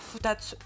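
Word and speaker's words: 二つ: Pareil, le kanji de 2 plus tsu, ça se prononcera toujours futatsu.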